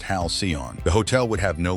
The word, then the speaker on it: Halcyon: Guests would board what looked like a real starship called the Halcyon, pronounced Hal-see-on.